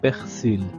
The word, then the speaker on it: persil: Ici, le L final se prononce, c'est du persil.